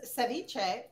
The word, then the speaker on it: ceviche: How do we pronounce the word that's in the name of the dish that you're making? So just ceviche.